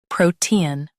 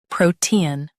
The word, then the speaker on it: protean: Stress pro in US, T in UK.